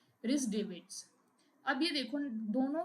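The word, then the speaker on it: Davids: रिस डेविस actually history में अगर आप देखें तो रिस डेविस नाम के एक तो थे थॉमस विलियम्स रिस sorry it इज नॉट डेविस इट इज डेविड्स यह स्पेलिंग गलत हो गई।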